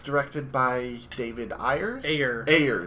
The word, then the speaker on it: Ayer: Ayers. At least that's what I've heard it pronounced as, David Ayer. Ayer.